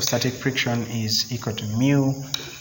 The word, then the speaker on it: mu: force because if i make mu s it's pronounced mu because it's a great letter if i make